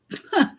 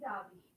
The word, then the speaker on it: David: She is David, not David. That's how they say it in Israel.